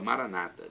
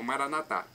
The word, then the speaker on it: Maranata: os evangélicos ou protestantes eles colocam a tônica na penúltima sílaba Maranata nosso católicos colocamos na última Maranata mas o significado é